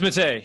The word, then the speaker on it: Matta: Matta. Am I saying that right? I've known you for like 5 years, but Matta, Matta, what is it? Is it? It's Matta. You said it right.